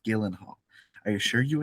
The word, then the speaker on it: Gyllenhaal: Gyllenhaal incorrect um Hall it's pronounced Gillan Hall are you assure you